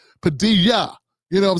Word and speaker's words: Padilla: like the like they were like you're not pronouncing it right it's Padilla you know what I'm saying like I had